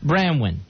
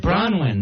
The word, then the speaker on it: Bronwyn: would say that name branwyn brown how do you say your name sweetheart branwyn bronwyn bronwyn right i was closer but not really well i think that's